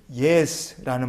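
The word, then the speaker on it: יֵשׁ: 무엇이 있는지 있는지라고 번역된 히브리어 본문이 예스라는 말입니다 예스 예스 노할 때 그 예스랑 발음이 똑같습니다 예스 예스란 말은 두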